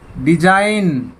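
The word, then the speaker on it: design: डिजाइन, ji silent.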